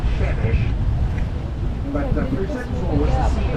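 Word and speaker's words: Przemyśl: It's called Przemysl Island. Przemysl Island was named after a city in eastern Poland. In Polish, I gather they pronounce it Shemish.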